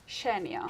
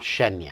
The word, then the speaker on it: Xenia: So I pronounce it Xenia. Xenia. But this name exists in lots of different places and lots of different countries, so everyone pronounces it differently.